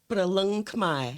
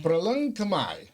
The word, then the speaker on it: Proleung Khmer: It's pronounced Proleung Khmer. Proleung Khmer.